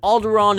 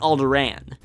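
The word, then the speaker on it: Alderaan: drop one of them pronunciation is a little more debatable in the films they switch between alderon and alderan the more widely accepted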